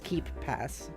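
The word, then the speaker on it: KeePass: were saying it earlier I assumed it was like k e y pass no it's keep pass but not not keep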